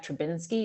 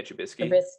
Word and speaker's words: Trubisky: I mean, how long did they have Trubinsky? Is that who the heck that quarterback was? Yeah, Trubisky. Yeah, I never said it right but yeah, they hold on.